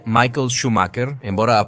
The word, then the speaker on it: Schumacher: Como sempre, começamos contando um pouco da biografia do piloto em questão, que nesse caso é Michael Schumacher, embora a pronúncia correta seja Michael Schumacher, um piloto nascido em Hermannheim, Alemanha, em 3